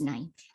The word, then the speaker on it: knife: um how to pronounce knife the child does not tell him the K and knife is silent she doesn't tell him